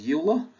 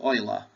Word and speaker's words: Euler: he's just annoyed that people often mispronounce his name as YULA but that's Leonard oer one of the few men